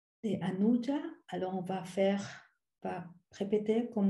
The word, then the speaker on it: Anuja: Après, il y a le U, mais on prononce ou parce que c'est Anuja. Donc, ce n'est pas Anuja, c'est Anuja.